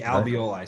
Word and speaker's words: alveoli: talking about basically the barriers how do you pronounce this alveoli yeah the alveoli so vo lie is that is bad where